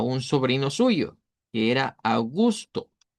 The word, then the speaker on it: August: Augus, así lo vamos a pronunciar en idioma duch. Augus.